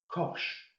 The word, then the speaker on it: cosh: The second one, I literally say it as it is, cosh. So that's cosh x. And the last one, I pronounce it as tanch.